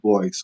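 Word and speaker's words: Blois: yeah so Cody blo I believe he does pronounce it blo although I think yeah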